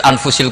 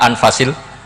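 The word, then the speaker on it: أنفس: Di sini ditulis anfusil kutub, kalau saya baca anfasil kutub karena maknanya kitab terbaik. Kalau kitab terbaik bacanya bukan anfus tapi apa? Anfas.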